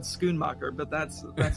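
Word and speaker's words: Schoenmaker: pronounce it because i would not have said schoonmacher but that's that's how it's pronounced well well done well done gold medal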